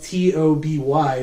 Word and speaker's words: Tobe: So, originally in the in the script for Fantasm, he it was spelled T O B Y, but he spelled with an E.